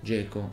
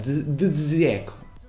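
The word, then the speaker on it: Džeko: Che poi ognuno lo chiama a suo modo, lo chiami Zeco, Geco, Peco, e vaffanculo, cioè. Devi pronunciarlo com'è, Zeco, Zeco, basta, così.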